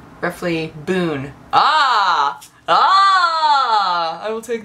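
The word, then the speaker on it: bún: how to pronounce roughly Boon ah ah I will take the veret Boon please it's a boon not a bun but it's spelled b u n when it's not in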